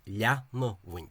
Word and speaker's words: leanamh: That the form was trisyllabic, as is the historical form, and was pronounced leanamh, as you can see here. Leanamh. This alpha symbol in the IPA represents the sound ah, but Sommerfeld uses it to represent the sound a.